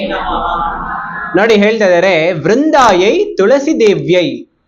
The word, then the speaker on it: ವೃಂದಾಯೈ: ನಮಃ ನೋಡಿ ಹೇಳ್ತಾ ಇದ್ದಾರೆ ವೃಂದಾಯೈ ತುಳಸಿ ದೇವ್ಯೈ ಆಕ್ಚುಲಿ ಈ ಉಚ್ಚಾರಣೆಯನ್ನು ಸರಿಯಾಗಿ ಮಾಡೋದು ಕಲಿಬೇಕು ನಾವು ವೃಂದ ವೃಂದಾಯೈ ಎಲ್ಲರೂ ಹೇಳಿ ಬೃಂದಾಯ ವೃಂದಾಯ